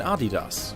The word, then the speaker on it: Adidas: shoes could do the same to Puma and Adidas which were at the time extremely popular in